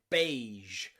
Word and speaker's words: beige: then finally we have the french loan word sound which is the super soft g in words like rouge okay or beige or even prestige okay in all of these words we have that j sound okay which is very rare but in french loan words it does exist then we have the